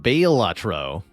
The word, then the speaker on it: Balatro: all in so to speak supposed to be pronounced bail lro right you got to know when to hold